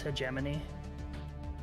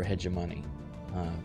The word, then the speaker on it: hegemony: We're neutral, but we'd also like to tell you it's pronounced hegemony. I prefer hegemony, personally.